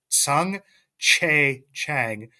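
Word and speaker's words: Tsung-Che Cheng: I wasn't able to pronounce it right until I learned from John Moses how to pronounce it, the announcer down in Altoona. Everybody, it's Sung Che Chang.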